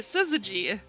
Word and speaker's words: syzygy: on all right let's see oh i was pronouncing it right syzygy a conjunction or opposition especially of the moon